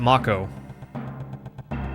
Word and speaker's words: Mako: the planet's full of I always called it moo energy in uh in the remake they they pronounce it Mako but I might accidentally say moo if I do bite me